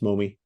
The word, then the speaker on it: Momi: Today we have as our special guest, Momi, the principal at Timpview High School. Welcome to the podcast, Momi.